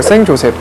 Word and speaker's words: Saint-Joseph: 코주 에르미타주, 에르미타주, 그리고 생조셉 등등이 있어요. 그래서 그 중에 하나가 바로 요 생조셉이라는 와인입니다. 근데 제가 계속 생조셉이라고 말씀드리고 있는데요, 이것은 이제 생이라는 것은 불어식발음이고 영어로 하게 되면은 세인트가 되겠죠.